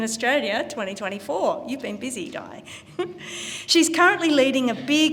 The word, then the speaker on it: Di: I've been calling her Di because it rhymes with Ty.